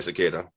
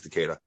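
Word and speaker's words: Takeda: dro Aikiu from cicada uh from some Osai cicada like I can't I can't remember his how to pronounce his name teada sorry it's teada okay so teada okay and uh I jiu-jitsu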